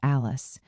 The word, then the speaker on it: Ales: I had to go to Als, pronounced Alice.